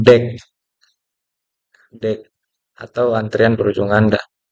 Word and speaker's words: deque: Nah, deway diucapkan deck.